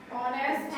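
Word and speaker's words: honest: ऑनेस्ट एन। क्यों आया? क्योंकि एच क्या है? साइलेंट।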